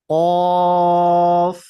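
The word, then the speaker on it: كاف: কাফ কাফ আমরা বাংলাতে যে ক বলি এই সেম কর মতই হবে নরমাল একবারে কাফ তাহলে এটা কি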